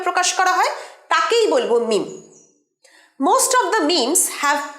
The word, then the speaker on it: meme: এর পরের শব্দটাও খুব কমন, খুব পরিচিত এই বর্তমান যুগে, সেটা হচ্ছে মিম। মিম, MEME, এটা অনেকেই তোমরা মিমি, মেমে এরকম ভুলভাল উচ্চারণ করে থাকো, আমি শুনতে পাই।